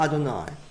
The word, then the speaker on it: Adonai: vowels on the name these prepositions tell us that they pronounce the name as Adonai here's an example where